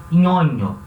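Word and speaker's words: Ñoño: Em espanhol, o nome dele vai se escrever assim, ó. Nhonho. Som de NH.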